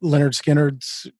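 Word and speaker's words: Lynyrd Skynyrd: all time is probably leonard skinner's pronounced leonard skinner is actually the title of it but if i had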